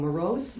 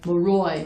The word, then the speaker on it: Maroy: also, we just sent out, the notice of award today to the lowest bidder, who was, I always say it wrong, Morose? Leroy. Maroy, Leroy. I said O-I-S, Maroy.